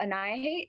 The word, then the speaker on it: Annihihate: spotify so search up anaya hate and the spelling of it is right behind me it's like annihilate but instead of the last l you have the h and i know how